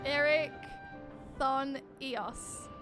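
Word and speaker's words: Erichthonios: As for Delos, and Eric Thon Eos.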